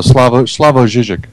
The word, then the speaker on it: Slavoj Žižek: Oh, Slavoj Žižek. Yeah, Slavoj Žižek.